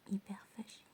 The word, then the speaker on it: hyperphagie: In French we say hyperphagie.